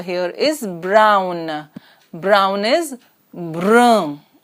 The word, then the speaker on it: brun: Brown is brun, brun. Un is as we did in the articles unde, the pronunciation is so it is brun, and in feminine it is brune, brune.